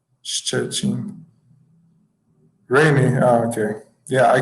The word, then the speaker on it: Szczecin: Szczecin, okay, very close to Germany, right?